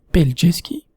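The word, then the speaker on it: Pelješac: pont un impôt qui s'appelle attention pour la prononciation plg ski le pont de punch ski qui passe à travers cette ville en fête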